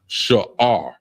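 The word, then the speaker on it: שאור: We have first word is yeast, and it's pronounced sha'ar, and it's spelled SHAAHR. That's SHAAHR, sha'ar, and it means herbs.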